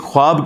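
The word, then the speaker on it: خواب: वाव उड़ जाती है इसको पढ़ने का तरीका है ख्वाब ये खवाब नहीं पढ़ा जाता वैसे उर्दू में चल भी जाता है लेकिन ये लफ्ज़ है खवाब तो व उसमें फिर साइलेंट हो जाती है तो यह जो नबुवत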